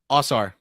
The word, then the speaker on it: Ausar: His twin brother How do you pronounce it, Chris? Ausar.